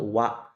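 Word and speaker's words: は: menjadi subjek teman-teman nah ini ada kecil di sini tulisan ini itu bukan dibaca ha ya teman-teman ya ini dibacanya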